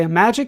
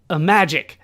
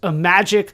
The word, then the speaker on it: Imagic: this company name, but from what I've been able to find, it has been pronounced Imagic, so we have to assume that it's halfway between like Imagine and Magic.